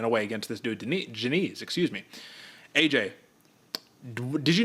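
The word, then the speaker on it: Diniz: out how you pronounce it and it is Janise even though it's spelled Denise here's the point Man Austin Lane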